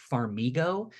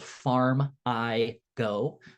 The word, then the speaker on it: Farmigo: And the one that I see most commonly used is called Farmigo. That's spelled Farm-I-Go, Farmigo.